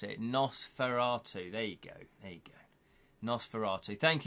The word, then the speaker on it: Nosferatu: That's how you pronounce it, Nosferatu.